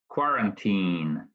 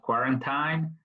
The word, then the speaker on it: quarantine: Number two, quarantine. It's important the pronunciation quarantine, not quarantine, but quarantine.